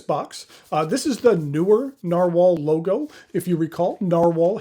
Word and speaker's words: Nahvalur: Even though they are spelled differently, it is pronounced the same, Narwhal.